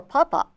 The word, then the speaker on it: pupa: You may never see the flea eggs, larva, or pupa. Pupa. Pupae. I never could pronounce that word. Can you pronounce that? I think Pupae?